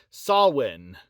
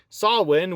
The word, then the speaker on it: Samhain: before the festival of Samhain. I believe that's how you actually pronounce it, Samhain. It's not how it's spelled.